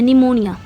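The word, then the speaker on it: pneumonia: निमोनिया। देखिए निमोनिया में P silent होता है और लिखते हैं तो पी के साथ लिखते हैं।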